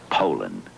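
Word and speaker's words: Poulan: for over 30 years they've been mispronouncing our name po po po po so we'd like to remind you that our name is Poland and for a tough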